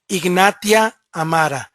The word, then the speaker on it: Ignatia amara: The medication or the remedy, the homeopathic remedy, is called Ignatia amara. Ignatia amara. And let me repeat it for you. I'm going to spell it for you.